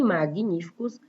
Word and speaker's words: magníficos: E magníficos é como se eu pronunciasse também um G-U-I, mag, mas não tem.